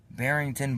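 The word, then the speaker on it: Barrington: we go to I don't know how to pronounce it it's b a r r i n g t o n barington barington Illinois right there like right there like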